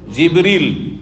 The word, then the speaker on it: জিবরীল: কে জিব্রাইল আলাইহিস সালাম জিব্রাইলের নামের দুটো উচ্চারণ রয়েছে জানেন না জানেন না আমাদের দেশে শুধু জিব্রাইল উচ্চারণটি প্রসিদ্ধ তাই না কিন্তু হাদিস কোরআনে কি রয়েছে জিবরীল কি রয়েছে জিব্রাইল আর মিকাইল তো এখানে জিব্রাইল নাই কি আছে জিবরীলা প্রসিদ্ধ কেরাত যে আমাদের